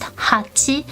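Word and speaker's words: 八: as claps, it's because 8 is pronounced hachi, and claps, the onomatopoeia for claps is pachi. Close enough, right?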